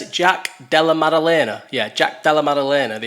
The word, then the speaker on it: Della Maddalena: Yeah, Jack Della how do you pronounce it? Jack Della Maddalena.